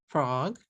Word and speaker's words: frog: you are going to change a one syllable word frog into three syllables if you say it in okay here's another one